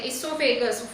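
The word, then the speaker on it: oesophagus: ओ silent है, इसोफेगस।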